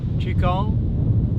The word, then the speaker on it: qigong: to welcome you to healy our medical qigong chicon well some of you might not be familiar with the term it's spelled q-i-g-o-n-g g meaning energy gone meaning work